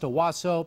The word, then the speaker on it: Onwuasor: on monday and released his name is pronounced awaso he was affectionately referred